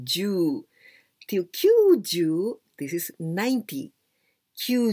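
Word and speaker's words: 九: And the first one, ki and you, kyu, and u, so this is a longer sound.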